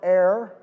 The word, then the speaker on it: heir: just like Abraham now if I didn't pronounce air properly and when I say air I mean h e i r you know my wife